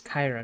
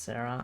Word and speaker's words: Kyra: Oh yeah, her name's Kyra, not Sarah. I need to remember that. Or at least that's how she pronounced it.